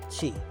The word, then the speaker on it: Qi: So let me ask you this: what is Qi? You hear everybody talk about Qi, spelled with I, oddly enough. Yes. I always thought it was CHI for the longest time, but you hear about Qi.